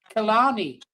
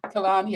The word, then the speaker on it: Killarney: Is it the Rangers Bar in Killarney? I don't know. It's not Killarney, it's Killarney. Killarney.